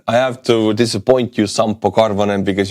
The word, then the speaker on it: Sampo Karvonen: I have to disappoint you, Sampo Karvonen, because your name is Finnish, which is pronounced almost the same way as Estonian.